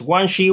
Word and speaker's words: Guanxi: Guanxi, is that how you pronounce it? Guanxi. Yes, Guanxi, which means, like, according to this translation, the art of relationships.